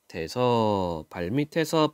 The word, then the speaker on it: 발밑에서: 풀을 뜯는 소의 발밑에서 발밑. 자, 에서 뜻이 없는 모음으로 시작하는 조사가 왔어요. 그때는 티읕을 그냥 뒤로 넘겨서 발음합니다.